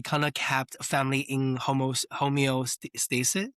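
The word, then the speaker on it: homeostasis: We talked about a kind of kept family in homos home stasis. How do you pronounce that? Yeah homeo stasis.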